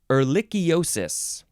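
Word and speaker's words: ehrlichiosis: this is we're getting into some really fun pronunciation words here this one is erlichiosis yes or lychiosis e h r l i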